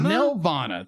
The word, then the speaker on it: Nelvana: Nelvana. Thank you. Nelvana. I want to say Nirvana, but it's not Nirvana.